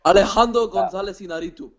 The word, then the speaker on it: Alejandro González Iñárritu: It's so hard to pronounce, but Alejandro González Iñárritu.